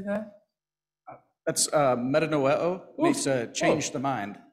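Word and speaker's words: μετανοέω: That's metanoeo, means to change the mind.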